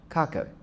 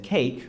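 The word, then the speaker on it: Kake: and he chose the name of his friend, Kaka. In Finnish, it's pronounced kaka, which sounds like but in English, people said cake, which also means ass.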